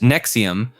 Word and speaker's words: NXIVM: NXIVM, pronounced Nexium, was a self-described personal development organization founded in 1998 by Keith Renier and Nancy Salsman in Albany, New York.